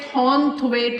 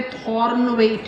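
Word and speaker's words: Thornthwaite: लिखते थॉर्नथवेट है, बोलते थॉर्नवेट है, TH साइलेंट है।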